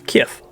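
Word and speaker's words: Kyiv: was hanging out with they were like oh it's Kiff okay that's how you say it cool but if somebody comes to me now and it's like oh it's actually Kiev or they try to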